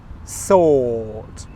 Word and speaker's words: sort: Okay, next, soot, sort, soot, sort, soot, sort, soot, sort. In the word sort, let's sort through all these things. I don't pronounce the R sound.